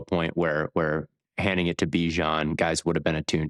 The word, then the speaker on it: Bijan: They made it a point to say the correct pronunciation of his name is Bijan.